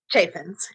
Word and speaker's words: Chaffins: I always get your last name wrong. Chaffins, right? Chaffins.